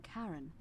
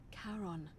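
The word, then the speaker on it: Charon: it's just as you described it only your pronunciation is a little off the name you heard wasn't karen it was c h a r o n as in caron the ferryman of the dead oh who in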